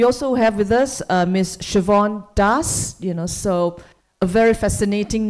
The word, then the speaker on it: Siobhan: Siobhan Das, so a very fascinating name. I've been I've been coached by Siobhan that you can pronounce her name it rhymes with Yvonne, right?